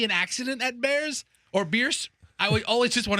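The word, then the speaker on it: Bierce: don't know and said it's not Bears Avenue it's beers they should change the spelling to b-i-e-r-c-e if that's how it's pronounced how hard is that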